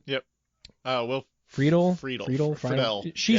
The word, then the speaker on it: Friedle: I think is how you pronounce his last name. Yep. Will Friedle.